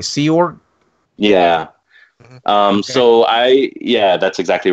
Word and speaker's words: Sea Org: You were at I believe I'm pronouncing this right, Sea Org?